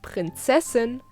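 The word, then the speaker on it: Prinzessin: so correct pronunciation is princessin similar to albedo's prince but feminine there is a masculine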